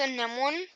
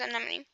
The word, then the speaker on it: Anemone: I used to say her name as an one, but then I started watching fire videos and I realized it was anemone.